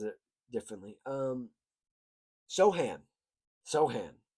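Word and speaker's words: Sochan: Sohan. It's how it's how it's phonetically spelled on Bass Reference. So, that's how I'm gonna say it.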